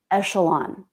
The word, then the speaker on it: echelon: to mispronounce a word this word is echelon not echelon but echelon was a good guess because the ch can be pronounced in this case it's the sh sound not the k k sound but there'd be no